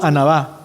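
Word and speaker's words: ענווה: Diga conmigo, anabá. Así como se escribe Ana. Anabá, ser el mandado. Anabá, va pegado así, anabá.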